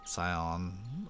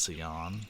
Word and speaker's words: Sion: was even a thing his name is uh scion or maybe it's pronounced ceon but it's s-i-o-n in that game i was pronouncing scion remember mitochondria is the